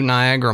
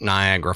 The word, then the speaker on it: Niagara: Now, let's talk about Niagara Falls or as it looks when you write it, Niagara. Yeah, right. I never spell it right. Even though Niagara, there's an extra A in there to me when I say it. Niagara, I think it's N I A G R A.